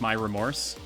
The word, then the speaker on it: Myra Moors: Yeah, it it's it's uh it's Myra Moors spelled it's like that. Uh but you pronounce it like my remorse. Uh it's meant to be like a play on words.